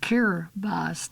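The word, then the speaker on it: Kiribati: It now forms part of the nations of Kurabati pronounced Kirbas dling which compromises 33 ocean specks straddling the international date line.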